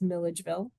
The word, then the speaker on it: Milledgeville: I think we're over time, although I will say, if anyone was wondering how to pronounce that town, it's Milledgeville.